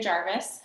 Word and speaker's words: Jarvais: So my name is Jarvis. I know it's spelled wrong. The English way is V-I-S.